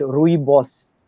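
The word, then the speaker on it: Rooibos: africa it's called i probably uh i'll just spell it out for you r o o i b o s rui boss rui boss t it's it it's a very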